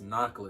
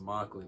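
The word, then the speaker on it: Mockolate: it's a knockoff chocolate it wasn't it wasn't pronounced knuckle it was pronounced mockly because it's mocking the name i guess or something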